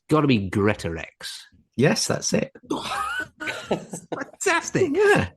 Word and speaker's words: Greatorex: And it's got to be Greatorex.